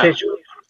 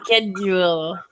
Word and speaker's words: schedule: Yeah, it's the same as school. They both start the same.